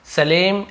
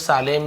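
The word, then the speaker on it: Salem: title है वह है सलेम एंड द पैग है ना सलेम बहुत सालेम भी बोल सकते हैं सलेम दोनों बोल सकते हैं क्योंकि स्पेलिंग दोनों का वही है लेकिन हम इसे सलेम बोलेंगे ठीक है सलेम ये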